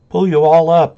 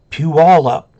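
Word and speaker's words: Puyallup: up uh Chris Robinson pull you all up is the easiest way to pronounce it Pew all up there you go Leo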